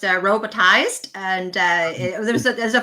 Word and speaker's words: Robotiz3d: So you know um how did your cross industry background prepare you for founding Robotas 3D? Yeah. So um first of all it's it's pronounced robotized and uh there's there's a funny story.